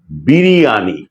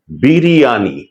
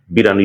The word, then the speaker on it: বিরিয়ানি: রীতিমত পাগলপড়া সেটি হচ্ছে বিরিয়ানি বিরিয়ানি এটি হচ্ছে শুদ্ধ বা প্রমিত উচ্চারণ কিংবা সঠিক বানান। কিন্তু আমরা সহজ করে বলি বিরিয়ানি খেতে চাই বিরিয়ানি অথচ বিরানি শুদ্ধ শব্দ নয় প্রমিত উচ্চারণ নয়।